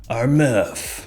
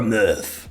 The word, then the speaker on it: Armaf: fragrance in the sky our meth that's how you say it properly or myth more specifically we're going to be